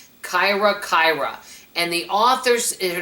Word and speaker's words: Kira-Kira: My husband said I'm pronouncing it correctly. Kyra Kyra and the author, her name is Cynthia.